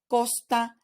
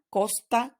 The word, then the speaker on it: costa: that comes after so if the letter C in Spanish is followed by the vowels the sound that you need to generate is like the English K in words like kayak koala or kudos so as such we have Casa Costa cuenta so the sea in Spanish when it's followed by the vowels sounds like a k ASA Costa cuenta on the other hand